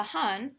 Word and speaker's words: Han: The Han, pronounced Han, dynasty arose during a time of unrest.